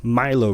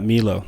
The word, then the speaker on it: Milo: just turn it in that was milo grams um not meelo like i was mispronouncing that's been the fun